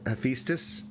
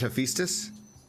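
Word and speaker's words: Hephaestus: lore for uh he hephestus is it hephestus hephestus hephestus hephestus I'm I'm okay with that I just thought the AE was e you know cuz like Eis isn't Eis spelled a e or am I wrong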